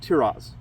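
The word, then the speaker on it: Tear'roz: My name is Tiraz. T Can you spell that for me?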